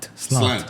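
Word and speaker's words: Sláinte: You were saying Clanking or it. slanging? Slant. There you go.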